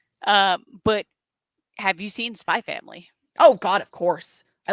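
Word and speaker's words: Spy × Family: also happens a lot you never pronounce the X you never pronounce it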